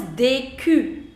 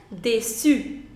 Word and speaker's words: déçu: So right now it is DQ. DQ, which is not the correct pronunciation. The correct pronunciation is déçu. Déçu, which means disappointed.